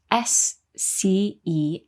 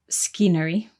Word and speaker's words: scenery: so scenery is spelled s-c-e-n-e-r-y but the C is silent at the beginning so we don't say scenery we say scenery good